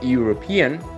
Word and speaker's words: European: o un sonido consonante la respuesta es ese in the european es un sonido consonante por lo tanto tenemos